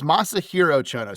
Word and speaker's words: Masahiro Chono: cuz we got uh masiro chono uhhuh did I say it right uh it's Masahiro chono so you're really close on it all right Masahiro chono